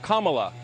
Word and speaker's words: Kamala: um hosts on fox her name is pronounced comma like the punctuation mark look kamala okay okay seriously i've